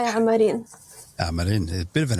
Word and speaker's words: Amarin: Am I pronouncing your surname correctly? Yes, Amarin.